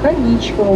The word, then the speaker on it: Аничков: самых красивых мостов Петербурга никому мосту именно с таким ударением на второй слог название его произносится к женскому имени Анечка не имеет никакого отношения мост получает название по